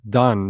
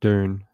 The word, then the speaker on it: Dunne: It's Dunn, not Dune. His name is spelled like that. It has it's Dunne. So it's not spelled in the traditional way you'd think of Dunn. But fair enough, that's how you pronounce it.